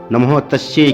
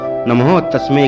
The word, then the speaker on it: नमः तस्यै: वे नमः तस्यै की जगह नमः तस्मै का उच्चारण कर रहे थे।